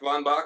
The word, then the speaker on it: Von Bach: Von Bach. Some people go Von Bach to be particularly Prussian, but Von Bach is what people say.